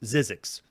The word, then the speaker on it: Zzyzzyxx: right whatever print it but it's it's obviously pronounced zizzi X this is zizzi X this is uh cinematronics 15th video game we've